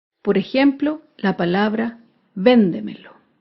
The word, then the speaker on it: véndemelo: por ejemplo la palabra véndemelo véndemelo se acentúa en la sílaba anterior a la antepenúltima sílaba véndemelo todas las palabras